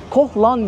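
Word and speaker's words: Koh Larn: numaralı pataya koh lan koh lan diye okunuyor diye biliyorum ama yazılışında larn o şekilde bu Tek yön Bu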